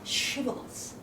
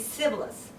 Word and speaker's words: shibboleth: And they are supposed to pronounce shibboleth. But depending on how your muscle practice, was used, some people don't know how to pronounce this she, right? So they will say shibboleth.